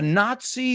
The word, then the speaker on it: Nazi: the trail of a Nazi war criminal. Now you say Nazi, you say the Z like the Spanish. We say it like TZ, not Nazi, no?